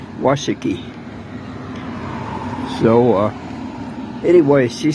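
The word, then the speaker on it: Washakie: and and uh see she told me the correct pronunciation this town is washiki so uh anyway she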